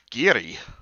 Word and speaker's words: Garioch: Yeah, it's spelled Garioch, but it's pronounced Giri.